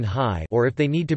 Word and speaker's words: hi: Vowel initial words are sometimes written with an unpronounced H, especially if they are very short. The preposition I in was sometimes written high, or if they need